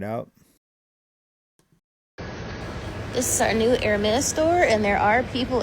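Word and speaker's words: Hermès: And there are Hermes. Okay. I would have pronounced it Hermas.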